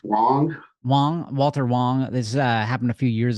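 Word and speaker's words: Walter Huang: Getting into the details of the Walter Hang crash. Is that how I pronounce his name correctly? It's Walter Wong.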